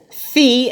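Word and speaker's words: φ: want it and that's pronounced or it's actually pronounced fee that letter is pronounced fee not a spit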